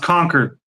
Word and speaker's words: Concord: He goes into this office and uh I think it's Concord, California. Okay. in California. It's called Conquered. It's pronounced Conquered.